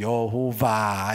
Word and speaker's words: 여호와: 아호와 이렇게 된 거예요 그게 발음이 어떻게 되냐면 야회 이렇게 됐고 이것의 영어적인 표현이 여호와 이렇게 된 거예요 그래서 우리가 부르고 있는